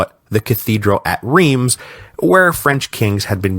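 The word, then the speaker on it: Reims: cathedral at, and I'm I'm just going to say it like this, Reams. Don't at me about the pronunciation. I know it's like Ros or something, but I can't make my mouth say it, so don't make me say it.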